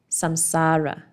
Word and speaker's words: samsara: Samsara. Yeah, I looked for the pronunciation.